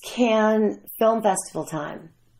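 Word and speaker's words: Cannes: festival time M I don't know if I say it right I hear can't I hear can I say can so um c a n n e s but it's French so you can pronounce it any way you want to Ken can s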